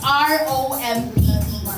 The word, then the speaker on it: Rompe: mababasa cuz it spells R O M P E. So, how do you pronounce this? Rompe. Rompe or romp? Rompe. Rompe daw po.